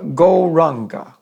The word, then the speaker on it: Gauranga: So we're going to learn now the mantra Gauranga.